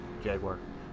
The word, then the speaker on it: Jaguar: You pronounce Jaguar wrong. Jaguar. For those of a North American accent.